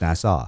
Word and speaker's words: Nassau: NASA yeah that's a Coliseum oh oh yeah NASA was the recording studio down in the Bahamas